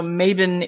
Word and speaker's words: Mabon: is called maben so maben is the Scots uh pronunciation of mabon the modern Scots pronunciation